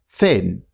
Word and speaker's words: thin: Thin.